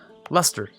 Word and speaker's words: Leicester: Namely, Leicester here, or sorry, Leicester. I'll pronounce it right one of these days on the first try.